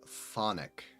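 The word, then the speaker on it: chthonic: twin steel says that the K is silent so it's thonic ah oh I will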